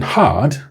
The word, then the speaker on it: hard: Then had hard has the longer vowel ah.